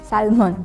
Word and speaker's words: salmon: In Philippines, we say salmon. We try to pronounce the L.